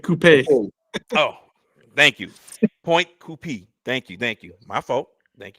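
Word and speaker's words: Pointe Coupee: Point Capee. Point Yeah. Capee. Point Copy. Yeah, What did that's I how say? it's pronounced. You said coupe. Okay. Oh, thank you. Point Coupé.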